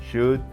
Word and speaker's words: should: we have watched and the L is silent here you have the right pronunciation so it is with should could listen them again and